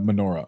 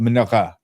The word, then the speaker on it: menorah: I don't know what it would be like, but I'm gonna get a menorah, a menorah. That's how they say it. That's the Hebrew way of saying it.